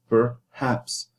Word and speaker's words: perhaps: you say, for example, the word perhaps. It has 2 syllables. Per is unstressed because the stress is on the haps, perhaps. So as a result, you put the unstressed schwar for the per.